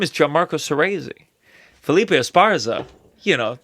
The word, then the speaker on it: Gianmarco: Yeah, it's 3 syllables. Yeah. Gianmarco.